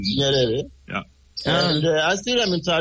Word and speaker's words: Nyerere: And, you pronounce Nyerere? Nyerere.